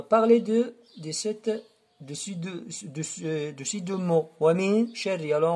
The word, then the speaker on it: ومن شر: ومن شر. On a parlé de ces deux mots. ومن شر. Alors, on ne prononce pas le nun. On passe directement de min sha.